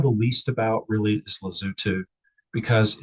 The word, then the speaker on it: Lesotho: So I just want to show you that in fact it's spelled with O's but they're pronounced like use. It's lazu for whatever you say to not food.